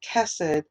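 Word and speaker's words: chesed: truth endures forever hallelujah and psalm 118 is kasich and doors forever this is another hebrew word it's spelled c-h-e-s-e-d and it means mercy or kindness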